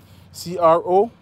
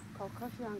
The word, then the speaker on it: Crocosmia: Could you spell it? Say Barbara Downey. The Crocosmia? C-R-O-C-O-S-M-I-A.